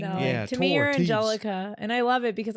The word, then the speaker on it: Angelica: Angelica. It's just the Spanish pronunciation for I was it.